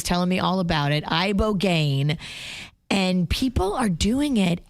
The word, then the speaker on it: ibogaine: Tell me about this ibogaine. Ibogaine? Is that how you pronounce it?